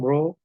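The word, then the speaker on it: rho: 3 the alphabet is a great alphabet called row pronounce row it's a scalar quantity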